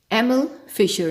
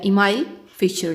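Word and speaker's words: Emil Fischer: Well, lock and की model को first time present किया था एमिल फिशर ने या इमाइल फिशर ने, जो भी आप कहना चाहें, जो भी आपके लिए प्रोनाउंसिएशन इजी है इसकी।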